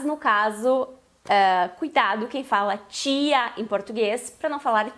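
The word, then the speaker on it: tía: Essa palavra se pronuncia tia. Então é para cuidar para não fazer aquele T nosso do português.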